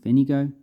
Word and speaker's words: Pfennige: So we have the marker coins with equal to 100 Pfennige, which were equivalent to German marks at the time.